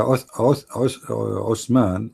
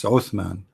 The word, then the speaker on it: Uthman: It's Uthman. The correct is Uthman, not Osman. Osman, because you don't have. Actually, in Arabic, in English, we have like the thunder. Th. The correct way to say it is Uthman. Th. All right. Yeah, not ot. It's the same as you say thunder.